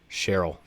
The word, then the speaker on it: Sherril: Cheryl. So kind of like sheriff, but with an L instead of an F.